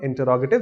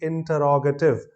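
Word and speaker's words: interrogative: तो the second one, इंटरोगेटिव statements, pronunciation के आधार पर दिस इज इंटरोगेटिव, ना कि इंटेरोगेटिव।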